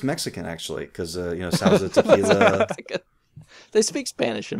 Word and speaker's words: Sauza: How would you pronounce that next one? What, Sauza? Is that Sauza? Sauza.